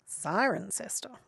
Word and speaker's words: Cirencester: It's pronounced Cirencester.